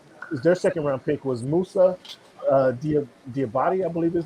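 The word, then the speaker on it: Musa Diabaté: Pronounce Musa's name for us. Musa Diabate. Musa Diabate.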